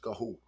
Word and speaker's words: Garraud: is marquee D um gaho gaho g a r r a u d pronounced gaho Bordeaux 2015 Mero this